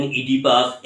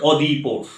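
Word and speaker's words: Oedipus: এবং তিনি বলছেন যে কেউ বলেন অদিপাউস, কেউ বলেন ইডিপাস, এক্সেট্রা এক্সেট্রা। উনি বলছেন অদিপোস উচ্চারণটা কেন?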